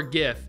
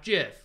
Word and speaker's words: GIF: get the question yeah so it is it's pronounced Jif or gif and we said it's pronounced gif which it is it's not jiff no get a clue yes okay yeah I